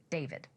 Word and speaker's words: D4vd: and much older boyfriend, the singer known as David. While his stage name is spelled with a four, his legal name is David Anthony Burke.